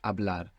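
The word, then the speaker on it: hablar: to speak in Spanish abl it's spelled h a b l a r what's happening with that H it's silent totally silent how do you say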